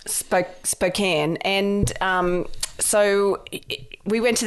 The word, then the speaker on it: Spokane: But Spokane. Spokane.